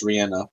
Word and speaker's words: Rihanna: She pronounces it as Rihanna, actually.